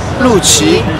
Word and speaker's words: Lucci: Lucci. Palucci? Lucci. Lucci. Lucci. Lucci, like an Italian.